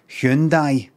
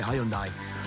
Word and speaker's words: Hyundai: But it'll be something like, so many people are still getting it right, maybe saying Hyundai, that they go, you know what, let's just let them.